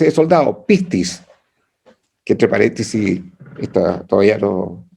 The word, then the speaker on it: pistis: lo recomiendo, El éxito griego-español, la palabra es pistis. Mire esto, se escribe así, P de perro, I de Ignacio, S de soldado, T de tarro, I de Ignacio, S de soldado.